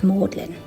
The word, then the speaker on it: Magdalen: I won't butcher the Latin name, but effectively it's the College of Mary Magdalene, usually pronounced Mlin.